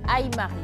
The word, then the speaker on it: Aymar: C'est Aymari, c'est ça, j'ai bien prononcé. Aymar. Aymar. D'accord, Aymar.